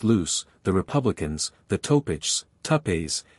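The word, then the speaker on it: Loups: four distinct bands viz the loops pronounced loose the Republicans the topich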